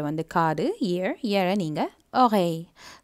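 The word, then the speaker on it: oreille: இயரை நீங்கள் ஒகை, so again இதில் double L வருது, அந்த டபுள் எல்லை நீங்கள் வாய் போல தான் சொல்லணும், ஸோ ஒகை.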